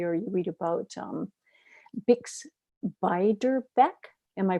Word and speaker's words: Beiderbecke: Or you read about Bix Beiderbecke. Am I pronouncing that?